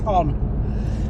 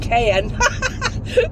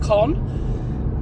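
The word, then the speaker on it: Caen: Some people pronounce it con, some pronounce it KH, some pronounce it con. Uh God knows how you pronounce it. I think it is con um but it's spelled C A E N. Um a friend of mine, Nicola, actually called it Ken, like Kenne pepper.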